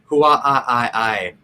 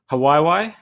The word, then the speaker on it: Hawaii: any volcanoes here in huawei sorry i've only ever seen it spelled yeah i think you're pronouncing it wrong i think it's hawaii no it's there that